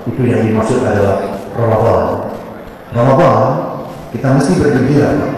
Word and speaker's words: Ramadhan: Ramadan sama Ramadan itu beda. Ramadan memang tulisannya R-A-M-A-D-A-N, Ramadan, Pak. Dalam penulisan jurnalistik, jadi tulisnya kayak gitu. Tapi bacanya tetap Ramadan.